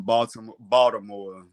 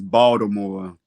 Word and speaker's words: Baltimore: Uh, I guess a street that I wouldn't go to after 8 o'clock in Baltimore, because I'm saying it wrong. It's Baltimore. The T is silent.